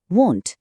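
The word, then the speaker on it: won't: আর সেটা হয়ে যায় ওয়ন্ট। হ্যাঁ, উচ্চারণটা কিন্তু খুব জরুরি।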